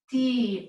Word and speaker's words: toquemos: Up here in the nosotros, T-O-Q-U-E-M-O-S.